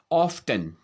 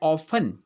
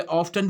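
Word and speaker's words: often: उसी प्रकार देखिए आप ऑफ्टन, ठीक है, हम इसको ऑफ्टन बोलते हैं। इसका जो सही उच्चारण है वो होता है ऑफन, ऑफन। कुछ जगह पर इसको जो है ऑफ्टन भी माना जाता है, ऑफ्टन भी इसको जो है प्रोनाउंस किया जाता है, जबकि इसका जो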